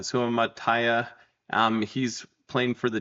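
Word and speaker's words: Suamataia: We've got Kingsley Sumati. I'm mispronouncing that. Sumataya.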